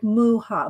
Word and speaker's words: Mucha: that name let's see oh it's pronounced mua muuha oh oh mucha known internationally alons mucha surname is pronounced like muha mu muha without the C oh gummy bracelets um